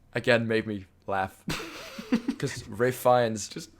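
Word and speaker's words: Ralph Fiennes: That's which again made me laugh because Ray Fiennes who's called Ralph, but that's your biggest problem with the film. Who, by the way, if we're just putting it out there, it's spelled Ralph.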